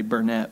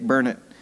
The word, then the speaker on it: Burnett: Actually, I didn't spell it, I just said it, but most people would say Burnett, but it's Dick Burnett.